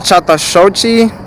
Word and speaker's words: Chattahoochee: i'm talking about it's called okay it's called chatashochi national forest so like you spell it c-h-a-t-t-a-h-o-o-c-h-e-e national forest just write that